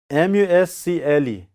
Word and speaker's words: muscle: MUSCLE. What do you find here? See, muscle. How do you pronounce?